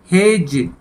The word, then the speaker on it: हेज: किनारा और उसके बाद हेज कि उन्हें यहां भी डी साइलेंट है हेड्स झाड़ी कि जाणी